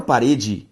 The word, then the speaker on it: parede: Se eu separo parede, eu tenho parede. Se eu separo quadro, quadro. Se eu separo mesa, mesa. Perceba que a sílaba tônica de parede é o re.